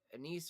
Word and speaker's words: anise: Anise, or is it anise?